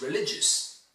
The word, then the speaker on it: religious: The adjective I would like to talk about is religious. Religious, it's stressed on the second syllable.